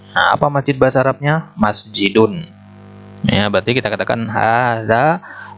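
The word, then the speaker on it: مسجدٌ: Nah, begitu juga masjidun. Nulisnya yang benar begini. Tapi kalau kita ucapkan seolah-olah begini deh. Masjidun.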